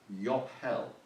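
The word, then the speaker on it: Yobhel: I don't know Hebrew, so I don't know quite how to pronounce it, but it's something like Yophel. Okay, it's spelled Y-O-B-H-E-L.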